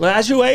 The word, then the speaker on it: Lajoie: Lajoie is the way you say it.